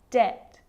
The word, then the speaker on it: debt: of these examples subtle debt and doubt so see in all of those examples my lips aren't closing and coming together to form the B sound I'm just pronouncing the T subtle debt and doubt